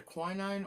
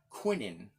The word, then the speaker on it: quinine: get quinine now they it's either quinine or I've heard in England Quinton so I've heard it pronounced both ways so you could say